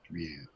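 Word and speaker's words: Rượu: can go see r o uo and it's pronounced Ru so R Who Knew be called Rue only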